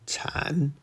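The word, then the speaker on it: 產: Third tone, chan, to give birth.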